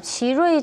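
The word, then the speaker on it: 奇瑞: 그리고 간단히 말 지르이 자동차가 지루이 자동차. 네. 예, 근데 예. 영문은 CHERY니까 체리로도 번역되고요. 근데 지르이 체리 자동차 자동차 어제 상장한 체리 자동차 네. 말씀하시는 거군요. 근데 중국어 네네. 발음이 지르이.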